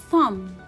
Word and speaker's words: thumb: Thumb, it will be a silent letter.